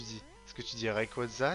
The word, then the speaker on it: Rayquaza: Est-ce que tu dis Rayquaza? Genre, il y a plein de prononciations possibles. Dans une pub, ils avaient dit un truc qui m'avait un peu choqué. Je crois qu'ils disaient Rayquaza, un truc comme ça. Moi, je dis Rayquaza.